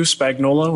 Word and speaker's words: Spagnuolo: spelling yeah yeah so you just pronounce it without the u spagnolo and that's uh pretty